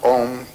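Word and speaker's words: Aum: It's written A-U-M. You start in the back of the mouth, ah, and then oo, you fill the mouth, and closes at the mouth. And when you pronounce this properly, all vowel sounds are in that pronunciation.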